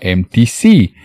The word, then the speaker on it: MTC: en inglés es mtc lo que se pronuncia como en bici y suena igual a empty si omar bashi yo